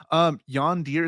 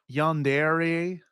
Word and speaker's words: yandere: Yondir, is that did I say that right? Yandere. Did I say it wrong or Yondir, you I don't know if you're making Yandere. Yandere, Yeah.